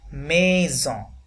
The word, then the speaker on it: maison: une jolie maison, maison, এখানে দেখুন single S এই জন্য সাউন্ড আসবে, maison।